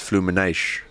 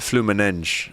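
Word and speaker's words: Fluminense: In Brazilian or Portuguese, you pronounce it as flumines. Oh, is it? But flu manenge is is is maybe the European one.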